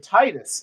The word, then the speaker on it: Tidus: But they said Titus in Kingdom Hearts 2. And no one will ever let you forget it. I know. But that's the Japanese pronunciation.